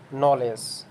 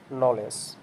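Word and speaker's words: knowledge: লক্ষ্য করলে দেখতে পাই নলেজ শব্দের শুরুতে কে এন আছে এখানে আমরা কে এর উচ্চারণ করছি না আমরা কি উচ্চারণ করছি নলেজ নাইট এখানে আমরা কে এর উচ্চারণ করছি না সরাসরি নাইট উচ্চারণ করছি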